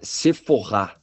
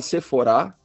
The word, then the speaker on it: Sephora: É seforr. Ah, então desculpem. Seporrá cider community. É que o pessoal aqui no Brasil fala seforá e mas com a marca francesa parece que a pronúncia correta é seforr.